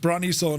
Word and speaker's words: Brønnøysund: Brønnøysund. Van Rambog, Jesus, right. I could have, if you weren't here, I would have said it's pronounced Brønnøysund because Rambog told me.